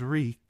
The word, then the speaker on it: Reek: My name is Reek. It rhymes with bleak."